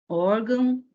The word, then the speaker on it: órgão: Órgão, órfão, órgãos e órfãos. Então, posição da sílaba tônica, penúltima sílaba, em todas.